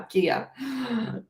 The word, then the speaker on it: Kaya: Kaya confessed to me that I've been saying her name wrong for 2 years. I said Kaya, now Kia.